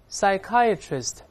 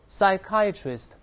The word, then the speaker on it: psychiatrist: 大声来念 psychiatrist，注意 p is silent，那 p 不发音，不要读 psychiatrist，那个 p 不发音啊，再来念 psychiatrist。